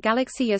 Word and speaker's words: Galaksija: the Galaxy Jia pronounced galaxy a serbo-croatian galaxy Jia meaning galaxy